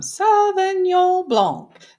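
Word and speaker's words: Sauvignon Blanc: Today we are going to try some Savon Blanc.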